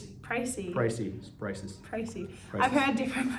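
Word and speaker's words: précis: The next map you need to be aware of is spelt like this, and it is pronounced Pracy.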